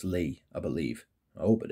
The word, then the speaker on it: Lie: fragrance is antoine lee spelled lie which is lie in english but it's actually pronounced lee i believe i hope